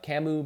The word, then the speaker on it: Camus: come on English come on but Camus is pronounced Camus but spelled see a mus if you read